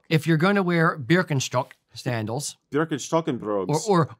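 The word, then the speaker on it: Birkenstock: you're going to wear berkenstock sandals berkenstock and brogs or or or Birkin stocks for you Americans um the uh I'm not kidding beer con struck is how you say it okay um f very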